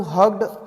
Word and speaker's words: hugged: dear said grandmother anu hugged her grandmother so write the last hard word h-u-g-e-d it is not hooked it is hugged because many students i